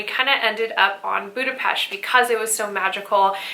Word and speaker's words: Budapest: gotta guys start sayin Budapest can you say Budapest in the u.s. people look at you funny but that's truly how you say it but I don't want